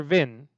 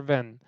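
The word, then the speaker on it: been: would be then or VIN the pronunciation depends but it would be VIN or van either way it's fine become begun bled for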